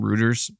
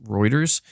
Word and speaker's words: Reuters: I kept calling him Reuters, but it's actually pronounced Reuters.